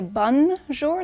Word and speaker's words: bonjour: We have to start with Bonjour. Good morning. Hello. And if you want to pronounce it properly, don't say Bon Jour, don't pronounce the n just say bonjour. It's very nasal.